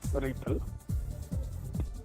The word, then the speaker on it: RPL: This routing protocol for low power and low C networks is pronounced as RIPL, designed for routing packets